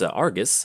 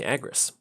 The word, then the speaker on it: Agrus: Playing against Argus, I think that's how you say it. Yeah. Agrus? No, excuse me, Agrus.